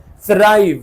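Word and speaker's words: thrive: बेहतरी की तरफ जाना थ्राइव यह टी एच को प्रोनाउंस किया जाता है स से स थ्राइव इट्स नॉट अ थ से थ्राइव नहीं होता थ्राइव थ्राइविंग एक और एग्जांपल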